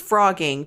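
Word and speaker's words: phrogging: like Frogger the game it's not like that um it's frogging PHR I don't know why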